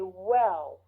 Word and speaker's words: well: Say well with your lips and not your teeth.